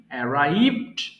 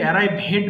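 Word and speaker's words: arrived: আছে এরাইভ পৌঁছানো এরাইভ এরাইভড এরাইভড এটা কিন্তু এরাইভ হেড বলবো না কেউ হ্যাঁ এরাইভড আবার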